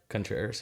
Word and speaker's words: Contreras: Mikey Contreras. Did I pronounce that right? Contreras, yeah. Contreras. Yeah, you can say Contreras. I tried putting a little fling on that.